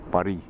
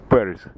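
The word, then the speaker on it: Paris: Калининград, Берн, Лишбоа, Парис или Пари. Как я же почему говорю, что если на английском прочитать, будет Парис. На французском Пари.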